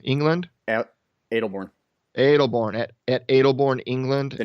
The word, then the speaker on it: Aldbourne: Aldbourne, England? Adelbourne.